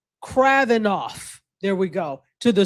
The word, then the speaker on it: Kravinoff: And then I said we asked them to bring Delilah or Anna Kranikov to Kravnik. I always say her name wrong. Kravinoff.